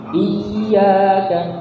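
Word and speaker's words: إِيَّاكَ: Seperti di iyyaka, cara bacanya itu harus dinaikkan. Iyyaka, iyyaka. Ya. Dan lagi-lagi jangan dilebihkan dari 2 harokat.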